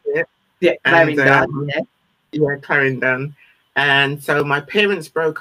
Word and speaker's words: Clarendon: That's the way you pronounce it. Clarendon.